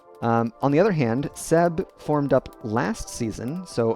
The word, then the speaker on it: CEEEEEEEEEEEEBBB: get to see clouded Minds face off against Seb which is the proper way to pronounce that for all those curious I will